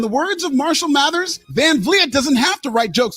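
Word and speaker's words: Van Vliet: try to be more like you unapologetically Chris Van vet is the happy go-lucky harmless daytime inter dude he butchered that name it's it's van vet van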